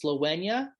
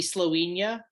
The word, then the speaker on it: Slowenya: off with a group i think it's pronounced slowenya it could be slowing ya but i'm gonna roll with sloenya uh s-l-o-w-e-n-y-a they are from turku